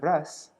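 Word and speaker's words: rasa: This was to ensure that the spiritual exchanges of ras, there should not be a long A there.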